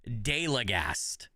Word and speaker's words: Deildegast: But if I'm not trying to be Norwegian and I'm just trying to say it with an English accent, it roughly how you say it is deagast.